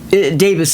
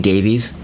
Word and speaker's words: Davies: Davis is the proper pronunciation, like Ray Davis, Dave Davis. But for some reason, Americans insist on saying Davies.